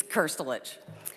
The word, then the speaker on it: Kirich: thank you for uh your pronunciation my last name that was very good it's kirich uh I represent the